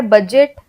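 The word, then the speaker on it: budget: है जैसे shaper scissor फिर दी साइलेंट है बजट ब्रिज नीचे तो यहां पे हमने बजट हमने नहीं बोला ना हमने ब्रेड से बोला हम बोलते हैं बजट तो बजट अब जब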